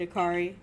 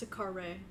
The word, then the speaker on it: Akari: very good work indeed akari you got the fragment back safe and sound it's a car Ray it's akari actually she told me but